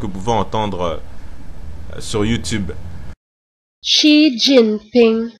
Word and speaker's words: Xi Jinping: Et comme j'étais pas sûr en fait de sa prononciation, parce que le Xi là en question se prononce Chi à peu près.